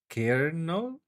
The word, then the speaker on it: colonel: Colonal is pronounced kernel.